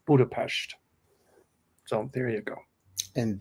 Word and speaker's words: Budapest: People say here, but it's pronounced Budapest.